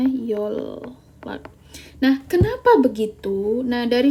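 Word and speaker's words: 연락: Oke, bacanya kan yonlak ya, kalau seandainya kita membaca sesuai dengan fitrahnya gitu. Tapi karena N ketemu L, N ini diubah menjadi L, jadi bacanya yolak.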